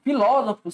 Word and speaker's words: filósofo: Filósofo, senhores. Olha, meu cachorro latino. Filósofo. Separação silábica aqui, ó. Filósofo. Filósofo. A sílaba tônica está na antepenúltima sílaba.